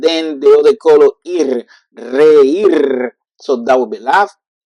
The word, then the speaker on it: reír: So now we have the two pronunciation, but it still is going to be the same and strong.